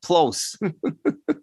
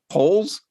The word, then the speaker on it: Poles: Ryan Plose. What? No. Come on. Let's see. It's spelled Polse. Poles.